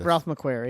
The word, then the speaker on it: Ralph McQuarrie: Ralph McQuarrie.